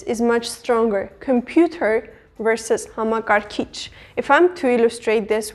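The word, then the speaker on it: համակարգիչ: It consists of 4 syllables, and the last syllable, this kich part, is emphasized. Hamakarkich. And as you have noticed, the emphasis at the end is a light one compared to the English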